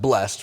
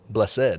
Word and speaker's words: blessed: is actually three syllable it's not just blessed which is one syllable it's blessed which is two syll can you imagine singing